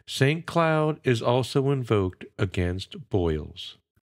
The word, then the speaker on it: Cloud: of nail makers as the French word for nail is clue c l oouu which is pronounced like his name St Cloud is also invoked against